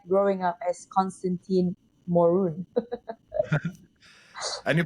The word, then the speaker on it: Constantin Morun: lane what was it like growing up as Constantine morun and you pronounce my name so well there thank you